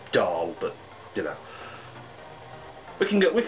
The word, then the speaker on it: Dal: The book is about a brother and sister team, Lenore and Dale, spelled D-A-L, which actually is pronounced Dahl, but, you know, we can look past that.